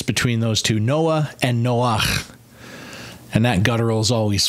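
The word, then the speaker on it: נח: The male version is actually pronounced Noach with that guttural chet kind of sound, or I think it's a chet. But it's got that guttural at the end of it, Noach, rather than Noah.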